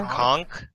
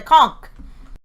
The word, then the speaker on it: conch: It's like a A conch? you know, from That's a conch. Is Yeah. I thought it was always either way. The conch. It's a shell It can thing. be pronounced conch. It's not supposed to be, though.